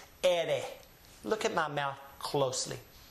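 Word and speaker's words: erre: The next letter is the rolling R. You don't have to roll your R's to be able to speak Spanish. You can just drag the R out and people will understand you perfectly fine. But the correct way is to roll the R, or simply vibrate the tongue. The first letter was ere. This letter is ere. Ere.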